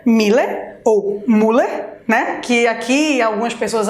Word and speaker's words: Müller: Eu pego, por exemplo, a palavra Miller. Pois é, Miller ou Müller, né? Que aqui algumas pessoas acabam pronunciando deste jeito, porque tem o tremazinho. Esse trema dá o som da letra I, né?